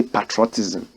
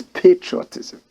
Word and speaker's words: patriotism: But I don't like the way you pronounce patriotism. You say patriotism. The word is patriotism.